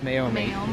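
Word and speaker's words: Meiomi: I picked up Mei correct me if I'm wrong mayomi may I think it is mayomi you got it I also got some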